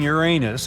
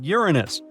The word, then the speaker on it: Uranus: Well, well, we've been misalling Uranus all this time. Actually, astronomers say we should be pronouncing it like Uranus, not Uranus. I can't say a different stress changes much, though.